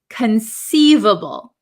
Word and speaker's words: conceivable: the first word is conceivable conceivable so this C uh is not a hard C it is a soft C conceivable conceivable okay so